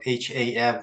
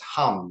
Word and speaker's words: Ham: My last name is spelled H-A-M, but it's supposed to be pronounced as Hum, not Ham.